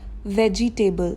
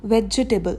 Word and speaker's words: vegetable: वेजिटेबल. That is wrong. The correct pronunciation to this word is वेजिटेबल. वेजिटेबल.